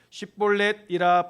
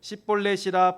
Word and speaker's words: 쉽볼렛: 만일 아니라 하면 그에게 이르기를 쉽볼렛이라 발음하라 하여 에브라임 사람이 그렇게 바로 말하지 못하고 십볼렛이라 발음하면 길르앗 사람이 그를 잡아서 요단강 나루턱에서 죽였더라.